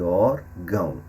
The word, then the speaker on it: órgão: órfão e órgão então nessas duas últimas palavras o acento agudo na primeira sílaba ora indica que a sílaba mais forte e também a pronúncia aberta da letra o na outra sílaba o tio indica que o som é nasal no caso de órfão e órgão ok então o tio